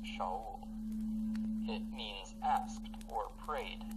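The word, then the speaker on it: שאול: The name Saul is from the Hebrew word pronounced Shaul.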